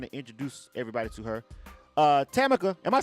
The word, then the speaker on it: Tammaka: on the line and introduce everybody to her chemical am I saying it right that's right yes